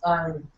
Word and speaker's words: iron: There is a rule regarding pronunciation of R. If it is followed by a vowel sound, then it will be pronounced. If it is not followed by a vowel sound, then it won't be pronounced.